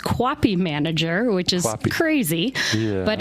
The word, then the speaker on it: QAPI: we like acronyms in healthcare so it's um pronounced Cappy manager which is crazy but it is stands